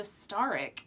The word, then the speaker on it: Staryk: In my head, I pronounced it Staryk. It's Staryk.